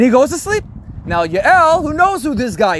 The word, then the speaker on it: Yael: And he runs to the tent of a woman named Yael, or Jael, sometimes it's pronounced in English, right?